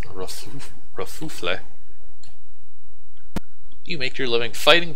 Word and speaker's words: Kerfuffle: That's pronounced Kerfuffle.